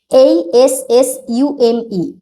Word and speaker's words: assume: ASSUME, এখানে উচ্চারণটা হবে assume, assume।